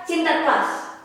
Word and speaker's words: Sinterklas: Nah, setelah di Belanda saya baru tahu bahwa A-nya 2 kalau di Belanda. Jadi bacanya juga mulutnya lidahnya cadel. L A-nya panjang. Prepare yourself, Sinterklas gitu. Ya, kalau di Indonesia Sinterklas.